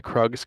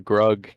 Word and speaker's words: Krug: I was reading the patch notes in a Skype call with my friend, uh, and I mispronounced the Krug camp as the Grug camp.